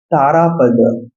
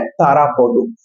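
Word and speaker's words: তারাপদ: तारापद। तारापदो this is the Bengali accent of this particular name. If you pronounce in Bengali accent, then you have to pronounce like that तारापद.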